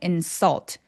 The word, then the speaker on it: insult: 근데 insult 얘는 혀가 들려 있으면 안 돼요. but 해 보세요. but 걔랑 똑같은 발음이에요. insult. insult 혀끝이 바닥에 바짝 누워 있어요.